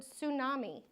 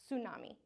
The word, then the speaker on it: tsunami: I wanted to direct you guys to the word tsunami because in English at least even though there is a t it's silent. We pronounce it like just with s. Tsunami.